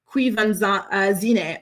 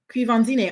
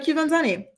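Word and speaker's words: Quvenzhané: He says it's pronounced Quivanzine. Oh, really? Quivanzine. Oh, I thought it was Quivanzane.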